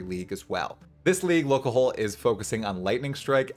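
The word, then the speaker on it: Lolcohol: Dude number 2 is someone I am friends with, and this is Locahole. Okay, and that's how you say his name, Locahole. I learned only a few months ago how to say it properly.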